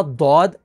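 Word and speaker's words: ضاد: और फिर उसके बाद अगला लेटर है दौद, वो भी इसी तरह दौद, अलिफ और दाल के साथ कंबाइन होकर प्रोनाउंस होता है।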